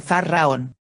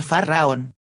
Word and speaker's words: Faraón: la pronunciación del mantra Faraón. Luego doblará las piernas y volverá a pronunciar Faraón. Cada sílaba se pronuncia en una sola respiración.